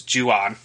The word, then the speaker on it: Jan: misconduct a yellow card forgetting that that's actually how his name is pronounced Accord to the pronunciation guide we'd been saying it wrong for years as Juan Pereira but it is Jan or Jan um who first